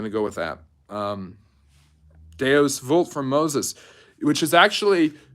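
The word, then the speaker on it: Deus vult: go with that um deos vult from Moses which is actually not pronounced deos vult it's deos wult V in Latin is W just like w in German is V like not wner Herzog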